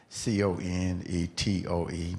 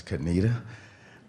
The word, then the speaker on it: Conetoe: Male Speaker: Yes, I'm from North Carolina, from a place that C-O-N-E-T-O-E. Most people call it "Conetoe" but it's "Kuh-nee-tuh".